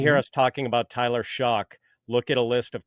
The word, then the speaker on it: Shough: They're going to hear us talking about Tyler Shough. Look at a list of quarterback prospects and where is this Shough guy you're talking about? His name is spelled Shough, like Shough, but it's pronounced Shough.